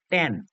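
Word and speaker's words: tan: অংক করার সময় আমরা লিখবো টান এটাকে আমরা উচ্চারণ করবো টান আচ্ছা এরপরে কোটানজেন্ট কে আমরা সংক্ষেপে উচ্চারণ করব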